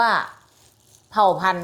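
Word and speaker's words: เผ่าพันธุ์: การัน เวลา เรา อ่าน เรา จะ ไม่ อ่าน ออก เสียง ตัว การัน นะ คะ เพราะ ว่า มี ไม้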